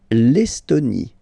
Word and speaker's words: Estonie: L'Estonie. Final E, not pronounced.